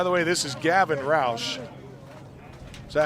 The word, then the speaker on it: Roush: get there by the way this is Gavin Roush is that how you pronounce that yeah Rous and a couple balls